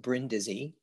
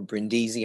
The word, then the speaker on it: Brindisi: this the brindisi model saint lawrence of bryn dizzy or brindisi however you choose to pronounce it is a capuchin